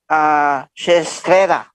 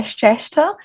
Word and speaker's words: Shrestha: Sarisha Shestrera. Did I pronounce it right? Hi, Mike. Yes, it is Sarisha Shrestha.